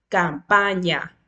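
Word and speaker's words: campagna: Igual tenemos las letras, la G con la N se pronuncia como si en español estuviésemos pronunciando la ñ.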